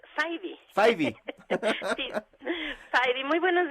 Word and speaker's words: Fyvie: Doctora Laureán Jiménez Fibi, habíamos platicado en la entrega anterior cómo se pronunciaba su apellido, Fibi. No, es Faidy.